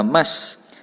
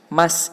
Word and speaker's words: must: Nah, di sini Pak Cao tunjukkan di sini sudah ada kata must. Must ini artinya harus. Tulisannya MUST, tetapi tidak dibaca mus, tapi cara bacanya adalah must, yang artinya harus.